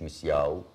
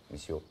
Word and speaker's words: مسيو: مسيو مسيو مش مسياو. مسيو انت محبك حبتين يا مسياو. اسمي مسيو. مسيو مش اسمي.